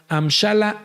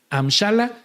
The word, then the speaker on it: Amshala: Okay, las eh redes van a aparecer aquí abajo, es ligeramente complicado el nombre, se llama amshala asana. A m ss h a l a amshala.